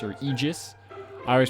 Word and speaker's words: Aegis: new skill here called aegis or aegis i always pronounced it aegis but ae is supposed to kind of be like one letter it's really weird in like latin because like archaeology has ae so it's like art